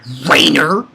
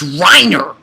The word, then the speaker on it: Reiner: his name's not that it's not rainer it's reiner what but anyway i